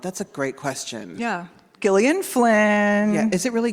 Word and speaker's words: Gillian: Yeah, is it really Gillian? It is. Yes, I know. Isn't that shocking? Wow. Did everybody know that? It's Gillian. You did? Like, girl, Me too. lead with that. It's a hard G.